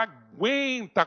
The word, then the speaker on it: aguenta: coração não ele fala Aguenta Coração então aqui ó eu pronunciei o u já então aqui não tem